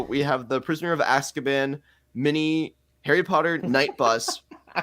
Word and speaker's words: Azkaban: It's as. Okay. As. Azkaban. Okay, Azkaban.